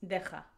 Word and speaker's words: deja: I don't know why, because it's deja. Again, another letter that is difficult to pronounce for people who doesn't have that sound. You have the kh sound. It's like if you are going to spit kh.